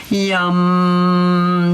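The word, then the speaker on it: yam: Jaws nice and wide yum that's the one syllable Sanskrit Mantra yum yum yum yum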